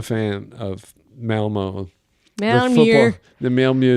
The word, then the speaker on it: Malmö: The Malmö. I learned how to pronounce it in a train station.